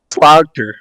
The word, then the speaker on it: Slagter: pronounce that again sir slagter slog yeah I always tell people the best way to pronounce it is say the word Slaughter but pronounce the G you know what I